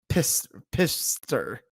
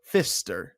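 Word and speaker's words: Pfister: pronounce his last name it's p-f-i-s-t-e-r pistor or Fister I think it's fish there with a p silent but he I don't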